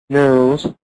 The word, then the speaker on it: nose: لما الثانية nose nose the slight z sound. slight z sound يعني بس بسيطة.